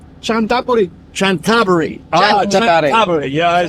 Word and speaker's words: Chanthaburi: guess you pronounce it why is it so good there you pronounce it chantaburi chantaburi chab yeah I